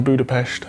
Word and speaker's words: Budapest: why they you know that's how they pronounce it in Hungary it's budapes so uh of course I